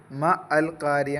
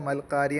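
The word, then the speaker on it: ما القارعة: ഹംസ വസിലിന്റെ ഹംസയാണ് അവിടെ ചേർത്തി ഓതുമ്പോൾ മ അൽകാരിയ എന്ന് പറയില്ല ചേർത്തി ഓതുമ്പോൾ മൽക്കാരിയ എന്ന് പറയുക വസ്ലിന്റെ ഹംസ ആയതുകൊണ്ടാണ് ഇനി അത് കത്തയിന്റെ ഹംസ ആണെങ്കിൽ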